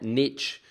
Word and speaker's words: niche: I'm very pleased that you also say niche and not niche yeah I don't understand that maybe it's an English thing well we say Australian same nation you guys say nation and the Americans say niche so it's it's definitely an American thing there is no T in the word niche no no and they